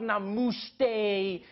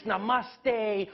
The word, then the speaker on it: namaste: on like dude it's not namaste it's namaste who messes up namaste isn't a moosh day but to those Indians